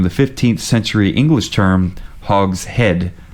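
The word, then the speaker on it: hogshead: name Hogs head originally Hogs heads okay well I'm dumb oh were you mispronouncing that I P out of it hog shed hog shed Hogs head I thought you were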